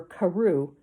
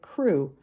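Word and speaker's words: Crewe: difference in the name madame pascal pronounced it as if it were karoo instead of crew but that might be merely a matter of pronunciation the circumstances were curiously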